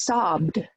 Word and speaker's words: sobbed: So the ED sounds like a d. It doesn't sound like ED. You lead the E, the schwa, the letter E is almost gone, and you just go to D.